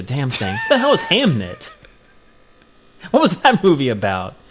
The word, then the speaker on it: Hamnet: I'll even spell it for you. H A M N T. Hamnit. Oh, Hamnet. Oh, well, that changes everything.